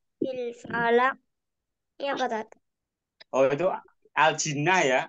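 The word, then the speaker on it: الجِنّة: Oh, itu aljinnah ya? Aljinnah bukan aljanah bacanya aljinnah.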